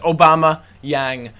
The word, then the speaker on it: Aubameyang: How do you pronounce Aubameyang? They told me exactly how to pronounce it, and it just reminded me of just the President Obama, and then just adding Yang on the end of it.